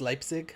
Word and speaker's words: Leipzig: the sound of so this is spelled like Leipzig but it could just be Leipzig because languages aren't always consistent about their rules anyway we'll let some passengers on it's pronounced Leipzig okay neat so yeah this